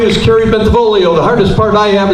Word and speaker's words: Bentivolio: forward to serving you my name is Kerry bentivolio the hardest part I am is kidding everybody pronounce my name correctly got to see when